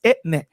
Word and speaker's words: Etne: Ine. what? First of all, her name is not Ine. It's Etne.